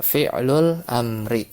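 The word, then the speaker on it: فعل الأمر: Kita beranjak ke fi'il mudhor sanian alfi'lul amru ya. Tapi yang mahsyur itu cara bacanya adalah ya fi'lul amri. Jadi mudf-mudf ilaih ya bukan ee naat man'ud.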